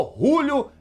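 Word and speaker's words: Julio: Então eles aprovaram aí uma possível investida no Júlio em si, no perdão, no Rúlio em si. Tem que ser Rúlio com R a pronúncia desse jogador paraguaio.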